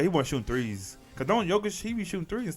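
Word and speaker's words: Jokić: Yeah, it's like spelled with a J, but it's like Jokic.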